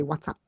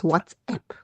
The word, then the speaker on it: WhatsApp: who get annoyed with people that say what's up that's ask my question it's WhatsApp this is T City then